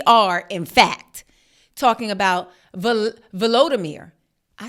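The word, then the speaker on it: Volodymyr: in fact talking about volodimir I said his name wrong y'all I was calling him Vladimir like Putin that's Putin is Vladimir but zalinski is volodimir remember I was like it's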